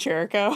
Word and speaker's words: Chirico: time to tell you my last name is pronounced Jericho yes excuse me let's